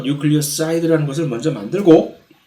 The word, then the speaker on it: 뉴클리오사이드: 근데 많은 경우에 뉴클리오티드가 아니라 뉴클리오사이드라고 한국말로는 이것을 뉴클리오시드라고 발음을 하는 모양인데, 아니 뉴클리오사이드는 뉴클리오타이드하고 뭐가 다른 거지?